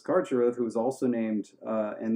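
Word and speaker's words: Carcharoth: Karcharov is how I would say it as the river possum that I am.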